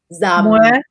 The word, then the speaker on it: dầm: So this is mưa dầm Mưa dầm thấm lâu. Mưa dầm thấm lâu. Woo dum Tom Lau. lao. Mua dam tam lao. Yeah. So the Z, the D you pronounce like a Z.